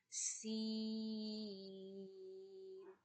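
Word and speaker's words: س: So za, seen, both are whistle sound letter and both are pronounced from the same place. You have to touch your tongue to the middle of your teeth, upper and bottom teeth.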